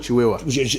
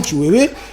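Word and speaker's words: Tshiwewe: Chiwewe ou Chiwewa? Excuse-moi d'avoir mal prononcé son nom, Chiwewe.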